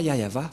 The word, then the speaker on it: Yahvah: par exemple vous êtes pêcheur si vous ne prononcez pas yayava vous êtes directement un pêcheur si vous dites